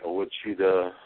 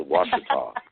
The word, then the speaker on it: Washita: on what's called the Ola cheetah there are you there ago I mispronounced it it's a Washita yes that one's tricky oh